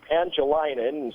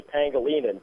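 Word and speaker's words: Pangelinan: Like he like Saipanese farmer Anthony Pangilinan said he saw and. It's actually Pangolinan, but okay.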